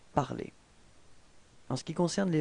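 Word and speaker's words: parlé: Phonétiquement, vous obtenez exactement la même chose, puisque l'infinitif c'est parler dans cet exemple, et le participe passé est prononcé parler.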